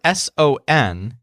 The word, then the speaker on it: son: he says when he refers to the pandas son tall people so the word s o n is pronounced son and it means they are now